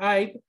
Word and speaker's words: I'd: Pero recuerden que si lo hacen por I'd, se tiene que escuchar la D esa.